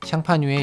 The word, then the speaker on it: Champagne: 참고로 샴페인이라는 단어 역시 샹파뉴의 영어식 발음이라고 합니다.